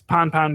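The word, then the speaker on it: pan-pan: passed on that too and it's pon pon because uh you do a short a as opposed to a long a because Mayday is long A's and because if you're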